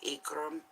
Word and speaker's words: Ikram: giovanni grandes giovanni grandes and then we have ikram which is spelled i k r a m pronounced with